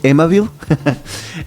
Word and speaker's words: Amabile: Y aquí aparece la profesora Teresa, o Teresa, se escribe Amabile, y creo que se pronuncia Amabile. Sí, así como Amabile, pero como amable, suena como amable.